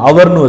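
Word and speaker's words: hour: அச்சில் ஆரம்பிக்குது, அதாவது கான்சனண்ட்ல ஆரம்பிக்குது. ஆனால் நம்ம உச்சரிக்கிறது என்னென்னு வச்சிருக்கிறோம்? அவர்னு வச்சிருக்கிறோம்.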